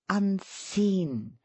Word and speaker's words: unseen: inflection of the words say unseen dwelling on the second syllable shrill Delight directing shrill